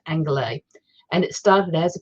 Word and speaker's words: Angeles: it's spelt like los angeles but it's actually pronounced anglais and it started as a piece of journalism